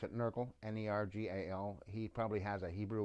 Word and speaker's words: Nergal: inauguration of Barack Obama a demon named we pronounce it in Urkel narG al he probably has a Hebrew word and he